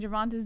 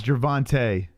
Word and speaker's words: Gervonta: fight gonna be entertaining Moss pronouncing javonta's name like Uncle chale oh yeah it's jervante just keep saying javonta